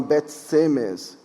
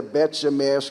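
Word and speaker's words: בית שמש: e Netânia, Bet Shemesh, vocês falam Bet Semes, a pronúncia certa seria Bet Shemesh, que quer dizer Casa do Sol, porque judeu não fala si, nós falamos shi, nunca esqueço disso.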